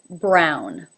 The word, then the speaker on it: Brown: Jones Jones number 4 brown brown has the ow as in now diphthong brown brown brown number 6